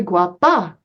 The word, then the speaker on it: guapa: said pointing at her no soy guapa she corrected him emphasizing the a sound of the second syllable Daisy guapa John Guapo